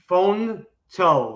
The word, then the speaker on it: Fonto: How do I pronounce that right? Fonto. Fonto? Fonto, like it says Fonto.